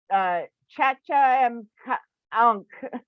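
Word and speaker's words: Tchatcha-em-ankh: But it's TCHATCHA dash EM dash ANKA or H. So Chacha M Ankh.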